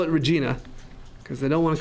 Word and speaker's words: Regina: to the University of Regina. And they're like, the University of what, sorry? University of Regina. And of course they thought he said the University of Vagina. But he said University of Regina.